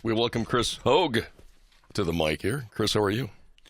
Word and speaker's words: Hogge: that good stuff all right we welcome Chris Hogue to the mic here Chris how are you